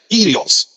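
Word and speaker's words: κύριος: A palavra que vocês estão vendo aqui se pronuncia, né? Kyrios. É o que nós chamamos, né? A pronúncia aí da língua grega. Então, é só vocês pegar aqui, ó. É o kappa, Y, o Rho, o Y, o ômicron e o sigma final.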